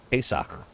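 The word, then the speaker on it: פסח: very nice you know how to pronounce Passover in Hebrew pesak and the godb bird lives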